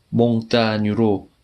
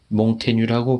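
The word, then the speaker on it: Montaigne: 덧붙여 말하면 몽테뉴는 예로부터 몽따뉴로 발음되었지만 현재 주민을 빼면 오늘날에는 몽테뉴라고 부르는 것이 일반적이기 때문에 거기에 따르고자 한다.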